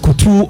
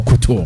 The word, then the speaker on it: couture: So is it pronounced couture or couture?